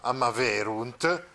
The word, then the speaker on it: amaverunt: Ecco, quindi una grossa differenza rispetto al perfetto, perché nel perfetto invece la terza persona plurale, la parola è piana, cioè l'accento va sulla penultima, amaverunt, mentre nel più che